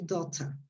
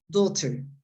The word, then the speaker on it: daughter: it this word uh if you use the british pronunciation you say sorry you say daughter there is another pronunciation that is more international daughter and there is another one that is typically american you say daughter the three of them are correct okay so uh debbie